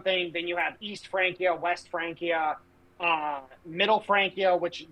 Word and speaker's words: Francia: I believe it's Francia. Francia is how you say it.